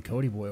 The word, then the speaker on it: Kody Boye: Kody Boye.